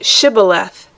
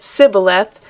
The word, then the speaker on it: Shibboleth: If he said no, then they said to him, Now say Shibboleth. And he said Sibboleth, for he couldn't manage to pronounce it right.